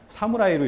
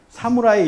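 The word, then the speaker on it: 侍: 상품들이 굉장히 많은데 그게 뭐냐면 모실 시자인데 이걸 읽을 때 뭐라고 읽냐면 사무라이로 읽어요. 사무라이라고 읽거든요. 이걸 우리처럼 시 이렇게 읽지 않습니다. 사무라이 이렇게 읽는다는 거죠.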